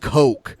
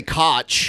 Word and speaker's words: Koch: it's so funny how it's that name is pronounced coke coke I would say Koch Koch cos I wasn't